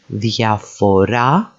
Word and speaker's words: διαφορά: Then we can actually put the emphasis on the second syllable from the end, διαφέρω, and then finally διαφορά takes the emphasis on the final syllable.